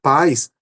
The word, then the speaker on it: pais: No primeiro caso, pais, a sílaba tônica é pá, né?